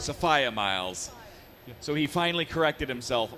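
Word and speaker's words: Sophia Myles: sofia miles so uh sophia miles was the girl in the fireplace madame de pompadour and it was 10 years of sophia miles not sophia miles so he finally corrected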